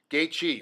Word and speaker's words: Gaethje: yes I had to ask him how to pronounce his name gate gate Chi right gate yeah there it is see even